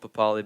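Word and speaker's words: Papali'i: said that he wants the old papali back up is the correct pronunciation um yes he has dropped josh papalee um i'm not sure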